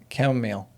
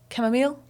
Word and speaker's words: chamomile: is renewal, fennel, cleansing, chamomile, grounding and comforting. How do you say that word? Chamomile. Chamomile. Some people I used to have a chamomile tea, chamomile, chamomile, both work. Tomato tomato.